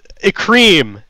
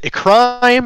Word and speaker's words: Ecryme: on mildra um uh a cream is how it's pronounced um and that's actually always our first like thing that we have people come up is it a crime is it a crime is it ekrame um no it's a cream maybe